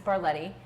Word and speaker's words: Barlette: maiden name is my Mary name is bar Letty both of those lesson names are hard to pronounce and they are even harder to spell